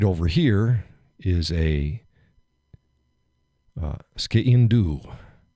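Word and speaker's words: sgian-dubh: This right over here is a ski-in-do, pronounced all sorts of different ways. Ski-in-do, skin-do.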